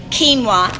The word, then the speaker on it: quinoa: So when you eat the quinoa, and it's spelled quinoa. You spell it like quinoa, but it's said quinoa because it's a foreign word.